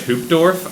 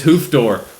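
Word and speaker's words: Hoofddorp: that's quite a class it's spelled in such a way that you would pronounce it in English hoop dwarf and I think that's beautiful it looks so far literally I get off the the plane hoof door it's hoof door hoof door or hoof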